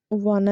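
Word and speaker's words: wanna: टू लिखे या आप वाना लिखे, दोनों सेम है। इसका प्रोनाउंसिएशन होता है वना, वना। इट्स नॉट वाना, इट्स वना, वना।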